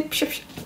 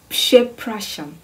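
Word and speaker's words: Przepraszam: So then I could hear now how the word is pronounced is Pshepracham.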